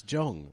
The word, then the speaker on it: Jong: It's jong. It's not yong. You say the J.